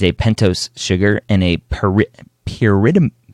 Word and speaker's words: pyrimidine: Pyrimidine.